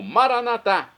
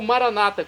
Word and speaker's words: Maranatá: E agora eu clamo, Maranatá, como dizemos nós católicos, ou Maranata, como dizem nossos irmãos separados, os evangélicos ou protestantes. Não importa a pronúncia, o significado é o mesmo.